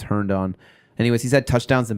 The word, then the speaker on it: Herndon: I think this is the pronunciation. Last time I tried to pronounce it, I didn't get it right, but I think it's Herndon.